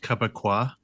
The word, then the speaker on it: kabaka: chaos and their talent it's pronounced kabaa it's distinctly not which is how we know it's not they're not uh they're not French Canadian I always thought it